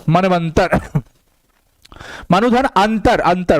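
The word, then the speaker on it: मन्वन्तर: चलो, मनवंतर, ऊ का व बन जाता है, लेकिन जिस पे लगा रहता है ये ऊ का उच्चारण उसको आधा बना देगा। ना पे लगा है ना को आधा बना दिया, आधा व, ये अ इसको पूरा कर दिया और ये म, मनवंतर।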